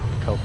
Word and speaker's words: Koch: Or, well, it's spelled like Koch. Objective Alpha is Yep. neutralized. Yep. Yeah. It kind of. Believe it or not, that's actually spelled, or said Coke too.